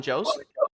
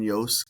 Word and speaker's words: Jost: to the Moon, Colin Yost is in it. Colin Jost? Yeah, Colin Yost. I think Jost? that J is silent, but then J is Yost, so Jost, Colin Jost, Yeah, the wife.